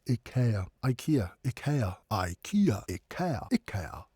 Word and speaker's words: IKEA: IKEA, if you want to put it that way, but it should be pronounced IKEA.